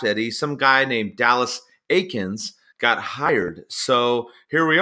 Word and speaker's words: Eakins: I asked Kyle Hewitt it's Aikens not Eakins I know I messed